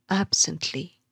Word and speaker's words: absently: An example would be absently. Here the stress is on the first syllable, absently.